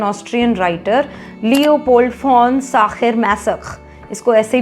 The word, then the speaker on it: Masoch: name of N Austrian writer Leopold fawn साखर मेसक इसको ऐसे ही प्रोनाउंस करते हैं who wrote extensively about the